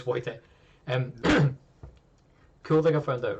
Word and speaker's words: Wojtek: Remember they pronounce W's. It's like is Wojtek or Wojtek. Like, it depends who you speak to and what part of Poland they're from. They pronounce it a wee bit differently. But either way, it's Wojtek or what?